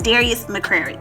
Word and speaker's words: Darius McCrary: Okay, so I mispronounced his name. It's Darius McCrary.